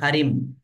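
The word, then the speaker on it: Karim: এটা হচ্ছে নাউন আমরা করিম বলেছি কিন্তু আসলে আইপিএ মেইনটেইন করে এখানে উচ্চারণ হবে খারিম কুয়েত ইজ এ মুসলিম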